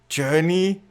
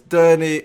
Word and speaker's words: Derny: a few meetings, and he's like, Derny? Journey? What's this word? What is it? Is that a typo? Did you spell it wrong? It's like, don't stop believing. No. It's Derny.